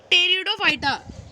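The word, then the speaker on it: Pteridophyta: है फिर 5.1 के कि कि ब्रायोफाइटा और टेरिडोफाइटा देखिए आपको जिक्र नहीं किया ब्लैक में 15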